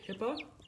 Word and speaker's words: Pippa: Not to be confused with Peppa. It's Pippa, and I have to say it like that.